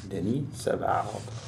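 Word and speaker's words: Denis Savard: growing up in Chicago Denny seal Denny seal he is not Italian no go straight with French pronunciation on that here hey it's de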